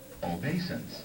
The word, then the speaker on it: obeisance: Obeisance. Obeisance. Obeisance. So pretend like that I is a Y.